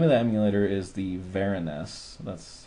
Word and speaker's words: VeriNES: The reason what VeriNES means is Vera is because it's written in Verilog. So that's short for Verilog, and then obviously NES. So it's a Verilog-based NES. You can also pronounce it as in VeriNES, and I kind of like that too because it fits, because it's very much like the NES because it's written in hardware and not software.